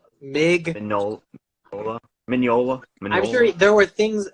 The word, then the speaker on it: Mignola: So, I'm sure that Mignola, how do you say his name? It's not Mignola. Mignola.